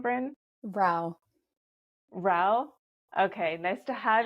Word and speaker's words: Rao: how do you say your last name Vin Ral Ral okay nice to have you on the